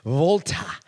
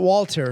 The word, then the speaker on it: Walter: and not only that the W pronounced as a v was something cool to me Volta not Walter oh it's Volta it's